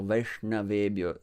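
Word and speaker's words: Vaiṣṇavebhyo: r, we are the, but just instead of saying r, you just say sh, and that's the sound that you have, that murdhanya, sha in Sanskrit. So sha, vaishna, shna, and na is pronounced from up there. When your tongue is there, then you just shoot it forward, na, while touching the space above your upper teeth. So Vaishnavebhyo, same like Krishna, sh, it goes up there.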